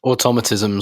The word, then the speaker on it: automatism: tomato tomato tomato tomato automatism automatism stress on the second syllable personally all right you